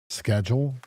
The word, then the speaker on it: schedule: I heard them say schedule, and this whole game they've been saying schedule. Schedule. Like they don't pronounce it with the hard K.